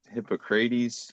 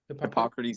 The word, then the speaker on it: Hippocrates: does uh mention hip Hippocrates or is that how you say hypocrates yeah I know I was saying it wrong excess in drinking said